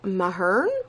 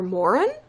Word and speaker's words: Mahurin: Serpent and the Dove by Shelby, I think that's pronounced Mahern or Morin? No, Mahurin, I believe.